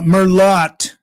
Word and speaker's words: Merlot: Uh Merlot. Merlot for Merllo. They they pronounce the T especially at wine tasting to watch you know the wine workers or whoever get them to react.